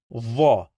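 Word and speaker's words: ظ: So here we have the, va. We must touch the upper teeth with the tongue as well, but va is a strong the.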